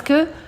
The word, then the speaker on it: que: vieux murs, c'est ce que Rome on nomme. Alors, le E de que, on ne l'entoure jamais. C'est comme je, c'est comme ne, que, Q-U-E. On l'entoure jamais, ça se prononce toujours comme ça, sauf s'il y a une apostrophe.